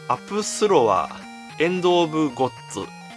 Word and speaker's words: APSULOV: apsu iou v かこの v のところをねブって読むのかと思ったらふって読むみたいですねということな